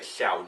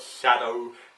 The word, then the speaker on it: Shao: reflect that so yeah Shao like Shaolin Shao so yeah that's CLE a little name there thank you not everyone manages to pronounce it right I've got shadow shaow shadow um most